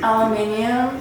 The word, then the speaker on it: aluminium: no not wrong just say it for the aluminium yes there there we go all right she's